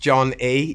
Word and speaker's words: Jon Ee: yeah man so you're john even i am john e yeah that's that is correct that's not john e uh no it's just pronounced john e yeah um so the the name came from